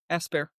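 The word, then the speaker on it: Aspairt: You don't pronounce the T. Okay. Aspar.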